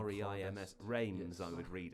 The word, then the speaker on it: Reims: But you do But it's pronounce this almost as like Rams, it not almost in sounds Ren. like an N to me, like it's Stade de Reims, Rams. which is weird. I Reims.